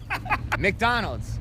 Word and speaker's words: McDonald's: Então, a pronúncia certa é Qual palavra? McDonald's.